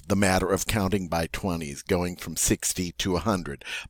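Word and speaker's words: vingt: Now remember, the French number for 20 was 20, 20, and it was spelled V-I-N-G-T, but pronounced 20.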